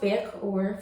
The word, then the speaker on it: Vaehhkaoir: It's pronounced Vaehhkaoir for those who don't know.